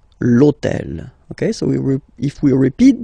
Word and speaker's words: hôtel: purpose this hôtel, okay, because it starts with H, but remember that in French we don't pronounce H. Okay, so basically the first sound of the word is the vowel O. Okay, so for the same reason, needs to disappear.